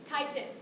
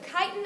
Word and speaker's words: chitin: Chitin. It's pronounced chitin, not chitin.